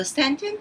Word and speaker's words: Stanton: 자, 발음할 때 Stanton이라고 합니다. TON으로 끝나는 모든 것들 튼이라고 발음한다라는 거. The Stanton Toy Museum.